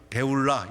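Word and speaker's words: 쁄라: 이 뿔라는 발음이 좀 이렇게 번역하면서 뿔라 이랬는데, 원어의 이름은 베울라 이렇게 되어 있어요.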